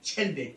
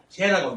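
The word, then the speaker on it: 諦: 거기서 내세운 게 진속 이제, 글자대로 하면 체인데 체, 불교에서는 그걸 제라고 읽습니다. 제. 불교에서만 제라고 읽어요. 보통 읽을 때는 체라고 읽습니다. 체.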